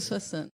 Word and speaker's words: Soixante: Tem um sibiladinho do S. No S tem. É plus de Soissons.